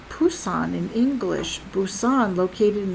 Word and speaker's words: Busan: Busousan located in the southeast of coast of South Korea is now more accurately spelled with a B in English because the beginning sound is softer unlike the hard P sound.